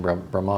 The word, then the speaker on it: Brahman: Brahman. that's Brahman. Brahman. That's Brahman. Okay. Yeah. You don't pronounce the last A.